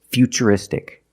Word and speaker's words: futuristic: And we see T-U-R-I in futuristic. Again, the T is pronounced with the ch sound. So the first word, future, and the second word is futuristic.